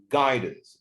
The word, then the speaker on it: guidance: guidance the stress is on the first syllable يبقى اسمها ايه؟